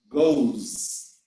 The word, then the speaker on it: goes: go you go he goes uh observe that the sound is not s we are going to talk about the pronunciation after we finish but the sound is z goes she goes it goes